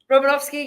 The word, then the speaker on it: Romanovsky: Did I pronounce your surname correctly? Robinovski.